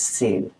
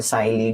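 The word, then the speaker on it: Selye: It can come as a 3 marker or a 6 marker question which was given by Hans Seil, ठीक है, और साइली, जैसे भी तुम लोग उसको प्रोनाउंस करो।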